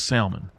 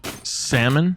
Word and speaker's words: salmon: You don't whack and tack, you walk and talk. And that is why it is salmon. So for anybody that does pronounce it salmon, I'm sorry, you're wrong.